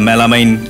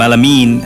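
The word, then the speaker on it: melamine: Vocab শেখার সাথে সাথে উচ্চারণ যেন সঠিক হয়, যেরকম আমরা মেলামাইন সেটা বলবো মেলামিন, হ্যাঁ সঠিকটা জেনে নেবো, এখন তো অনেক সহজ, গুগল থেকে জেনে নেবো, এরপরে ডায়ালগ করবো।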